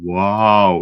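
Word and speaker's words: wau: But in German it's W-A-U, but in terms of pronunciation, it's pronounced wow.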